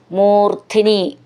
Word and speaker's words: മൂർധ്നി: മൂർധ്നി, ധ്നി എന്നുള്ളതിൻ്റെ ധ എന്ന് നന്നായിട്ട് ഊന്നി പറയാനുള്ളതാണ്.